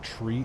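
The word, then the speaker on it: three: But you pronounce it as tree in aviation terms, you can.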